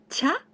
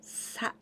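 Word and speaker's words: 茶: country means T and we pronounce cha or sa the stroke order at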